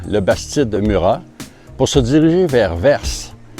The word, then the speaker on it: Vers: Ce matin, on quitte notre petit joli hôtel à Labastide-Murat pour se diriger vers Vers. Ici, dans le sud de la France, ils prononcent le S, parce que Vers, ça s'écrit V-E-R-S.